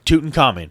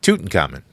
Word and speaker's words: Tutankhamun: It's King Tutankhamun, right? Tutankhamun. Yeah. Nope. Now it's Tutankhamun.